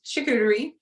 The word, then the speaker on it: charcuterie: So it is charcuterie, and it is pretty much your snack board, your grazing board.